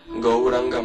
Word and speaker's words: Gauranga: The same process is to be repeated for the chanting of the Gauranga mantra Raj, which is the Gaura Gopala mantra. Go, Ra, 4-syllable Gaura Gopala mantra. Go, Ra, A, and Anga. Gauranga, Gauranga, Gauranga, Gauranga, Gauranga, Gauranga.